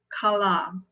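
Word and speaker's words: כלה: the root word of tahel it is it's pronounced kala do you know what kala is in Hebrew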